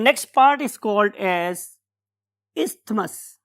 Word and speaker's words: isthmus: हूं मैं कि आपने थ को भी याद रखें ताकि आपको TH याद रहे, अदरवाइज इट इज इस्थमस। हम उसमें बहुत ज्यादा जोर थे पे नहीं लगा रहे होते, तो इस्थमस इज a true pronunciation. So this very isthmus is